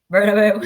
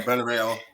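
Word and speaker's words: Bernabéu: Real Madrid's home ground, was it but how do you pronounce it? Bernabeu. Yeah, Bernabeu.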